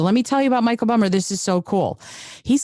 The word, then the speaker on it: Michael Bummer: you how do you say your name it's Michael bummer Michael bummer okay see he's got a couple of different ways that he goes so I wanted to make sure so let me tell you about Michael bummer this is so cool he's considered himself a